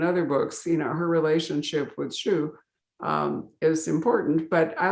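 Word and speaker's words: Xu: In fact, he has an heir called, is it Shu? Is that how you pronounce it? X-U? Shu, yeah. Shu.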